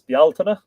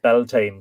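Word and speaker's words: Bealtaine: equinox and Sumer Solstice is Bal and don't let anybody tell you that that's pronounced belan because it isn't not in Ireland it isn't and that's where the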